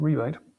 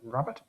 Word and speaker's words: rebate: I'm led to believe it's still supposed to be pronounced rebate, but in some places they pronounce that rabbet.